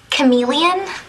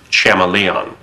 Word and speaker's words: chameleon: Daniel chamon um Professor uh do you mean chameleon Betty I'm pretty sure it's pronounced chamon so last dismissed no homework for a while